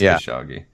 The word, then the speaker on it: Khashoggi: It is Khashoggi.